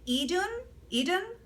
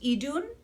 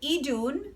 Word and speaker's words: Idun: I got to test for free this, I've been saying Eden, but I was told that it's pronounced Idun. So Idun, spelled I-D-U-N, Idun foundation.